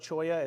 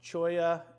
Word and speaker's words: cholla: website and look up choya it's spelled c h l l a it looks like Chola that's a different thing um choya is a really cool